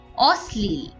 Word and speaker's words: অশ্লীল: এখানে তালব্য স এর সাথে ল যুক্ত হলেও উচ্চারণটা কিন্তু এস এর মত বা দন্তস এর মত হয় একইভাবে অশ্লীল এবারে আমরা হ যুক্ত ব্যঞ্জনের কিছু উদাহরণ দেখে